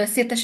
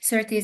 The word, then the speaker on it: Szirtes: basically George Szirtes, the Szirtes is the Hungarian pronunciation of his name, and Szirtes is the British pronunciation